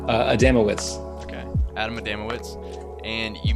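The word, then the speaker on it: Adamowicz: for uh kotaku that you wrote about adam adam wicks am i pronouncing that right uh adamowitz okay adam adamowitz and you mentioned he has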